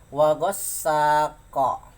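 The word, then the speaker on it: وغاسق: Kalau dibaca qalqalah sampai sini diwakafkan wagosako. Kunnya dibaca ko, memantul.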